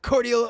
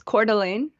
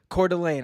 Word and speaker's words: Coeur d'Alene: soldiers parachuting in to cordial is it court this is that i i'm unfamiliar with idaho honestly how do you pronounce the city again uh it's coeur d'alene coeur d'alene i was gonna say